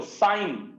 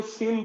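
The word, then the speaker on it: sine: প্রথম অনুপাতটার নাম হইল সাইন। সাইন সংক্ষেপে এইটাকে বলা হয় SIN, তবে এটাকে কেউ সিন বইল না, এটাকে সবাই সাইন উচ্চারণ করবা। তোমরা মনে রাখবা, সাইনকে সিন বলা একটা সিন, মানে পাপ।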